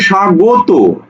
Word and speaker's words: স্বাগত: বলছো স্বাগত এই তোমাকে সাগত তুমি কি স্বাগত বলছো না তুমি বলছো স্বাগত স্বাগত সাগত সাগত তাহলে তোমাকে এখানে লিখতে হবে